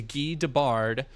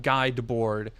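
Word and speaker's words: Guy Debord: Um I I do know that his name is Gee Debbard, not Guy Debor.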